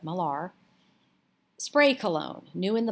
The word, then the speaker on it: Millar: peter millar cologne and that is spelled m-i-l-l-a-r not miller but malar spray cologne new in